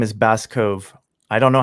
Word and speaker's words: Bascove: That dude's name is Baskove. I don't know how to pronounce it. It's just Bascove.